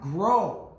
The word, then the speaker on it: grow: silent gh in it number five grow with a silent W at the end so look out for that number six is roots